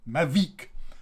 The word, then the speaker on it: Mavic: a french brand and this is mavic mavic and you will know you just imagine there's a kind of v double e k sound v all right so